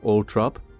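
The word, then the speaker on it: Althorp: lease of lands at Ultrop in 1486. Orrop is in Northamptonshire in the English East Midlands. The pronunciation Ultrop is the preferred one of the Spencer family although is an alternative more common pronunciation.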